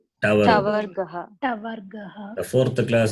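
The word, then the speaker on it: टवर्ग: The third class is Tavargaha. The T with the dot is there. That is the Ta. diacritical Ta. mark. And the fourth one is Tavargaha. Ka, cha, ta, tha. The first one is Ka, Kavarga. The second one, Cha, Chavarga. The third one, Ta, Tavarga.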